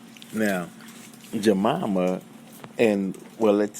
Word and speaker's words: Jemima: or the symbolic meaning of a jamama and jamama is spelled j e m i m a now